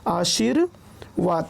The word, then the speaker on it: आशीर्वाद: तो रेफ लगता है उच्चारण उससे पहले, जिस वर्ण पर रेफ लगता है उच्चारण उसके पहले होता है। जैसे कि आशीर्वाद, तो यहाँ पर आप देख पा रहे होंगे